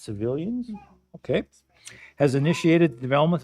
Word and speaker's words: CVLNS: It's pronounced civilians.